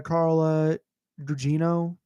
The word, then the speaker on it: Carla Gugino: she has a really bad stepmother, played by Carla Gugino. That's how you pronounce her name.